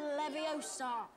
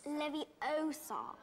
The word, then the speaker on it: Leviosa: Wingardium Leviosa. Stop. You're going to take someone's eye out. Besides, you're saying it wrong. It's Leviosa, not Leviosa.